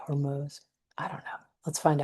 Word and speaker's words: Hormuz: of the Strait of Hormuz being choked. I heard it's actually pronounced Hormuz instead of Hormuz, but I haven't double, triple checked that, so I might be wrong about that.